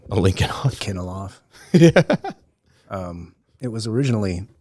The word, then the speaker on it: Alinikoff: How do I pronounce your last name? Alinikoff?